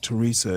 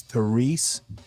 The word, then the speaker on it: Therese: I don't think she pronounces it Teresa. It's Therese. I've been watching her.